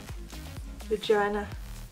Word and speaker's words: Regina: Regina REGINA Pure Black. I'm gonna I always want to pronounce it like vagina, but no, it's not.